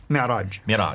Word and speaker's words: Mi'raj: That's called the Mi'raj. How do you say it? Mi'raj.